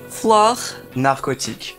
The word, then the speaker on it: Fleur Narcotique: It's French, but can you teach me how to pronounce it in French? Fleur. Fleur. Narcotique.